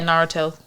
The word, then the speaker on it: Naruto: the show he was on the episode about naruto right that's how you pronounce it um yeah naruto boy i always pronounced that wrong so if anyone wants to